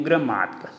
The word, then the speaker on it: gramática: Que eu tenho gramática. Gramática, aqui está a tonicidade. Então, última, penúltima, antepenúltima. Por isso que ela foi acentuada.